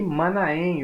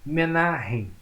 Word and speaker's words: Manaém: E Manaém ou Menahem, né? Como também pode ser pronunciado aí o seu nome, que segundo alguns estudiosos era irmão de criação de Herodes Antipas.